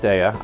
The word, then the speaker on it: Daiya: The Daiya cheeses, and yes, it's pronounced Daiya. I have it on good authority.